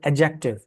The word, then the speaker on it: adjective: But whenever you have D and J together, the D silent. Okay. So for example, the word adjective, people pronounce this as adjective.